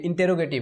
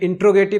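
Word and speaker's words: interrogative: दोस्तों, इंट्रोडक्शन नहीं है, इंटेरोगेटिव है। आप अगर बोल रहे हैं इंट्रोगेटिव तो ये गलत है, हमने आपको बताया था मेरी क्लास में, आपको प्रोनाउंसिएशन भी इंपॉर्टेंट है इसके लिए। तो कहने का मतलब दोस्तों यहाँ पे इंटेरोगेटिव होता है, इंट्रोगेटिव नहीं होता है। अगर आप इसको कह रहे हैं तो यू आर रॉन्ग।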